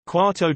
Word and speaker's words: quarto: di x verso y pronounced quatto di x verso y one quarter from x